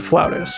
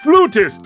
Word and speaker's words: flutist: Now, Pedro is a worldrenowned floutist. It's actually pronounced flutist, young man.